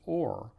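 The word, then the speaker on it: אור: spelled aleph VAV race they're both pronounced or which is why I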